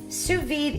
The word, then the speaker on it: sous vide: if you're wondering what to vide cooking is sous-vide is spelled sou SB IDE and it's pronounced sous-vide